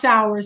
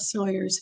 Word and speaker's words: Sowers: It is pronounced Sowers, not Sawyers, for all you Sawyers fans.